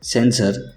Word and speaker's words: censor: दूसरा वर्ड है सेंसर, जिसका स्पेलिंग है CENSOR, जिसके मीनिंग्स है नियंत्रक, निरीक्षक।